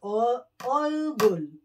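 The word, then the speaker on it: 얼굴: Face is olgul.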